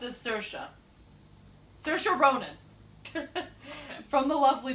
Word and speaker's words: Saoirse: It says it's pronounced as Saoirse.